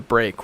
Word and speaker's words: BRK: But there's also something called the break, which is spelled BRK, and it's just a guy going break, and that became an in-joke amongst the chiptune people in those days.